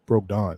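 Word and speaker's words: Brogdon: accused i heard i heard it's actually broke broke don but i call it braga but anyway that's how i pronounce my o's uh they have a malcolm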